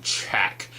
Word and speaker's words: Chaak: is in a minute see it's two A's there so I'm kind of over pronouncing check and this was a